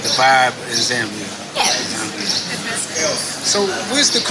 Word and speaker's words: Zambia: Because usually in Africa, I think A's are pronounced ah, so I'm just assuming it's Zambia. Yeah. It's Zambia.